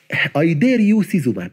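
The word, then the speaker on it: idarucizumab: انطقها كده زي ما انا هنطقها بالظبط عشان لان هو اسم طويل مش عارف تنطقه. اي دير يو سيزوماب، كانك بتقول كده، كانك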